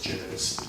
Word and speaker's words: Jervis: after his lineage, and asked them how they pronounced their family name, and they said it's Jervis, most definitely.